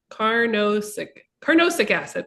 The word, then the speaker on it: carnosic acid: carcinic acid or carnosic acid. That's how you say it in it.